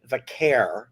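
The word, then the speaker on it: Vaquer: them was when Stephanie Valkyria is how you say her name.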